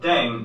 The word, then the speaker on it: 땡: The pronunciation of Ddaeng is similar to thang, which is the slang of thing in English.